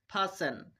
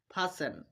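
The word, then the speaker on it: fasten: টিটা সাইলেন্ট রাখবো। উদাহরণ দেখো। লিসেন Hesson ফাসেন। তিনটা উদাহরণের মধ্যে আমরা এসটিই পাচ্ছি। সেইজন্য আমরা টিটা সাইলেন্ট রেখেছি। এখানে টি এর উচ্চারণ করিনি। দেখো লিসেন হেইসেন ফাসেন চলো আমরা আরো তিনটা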